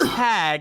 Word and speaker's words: Tague: My last name is pronounced Tag and spelled Tague.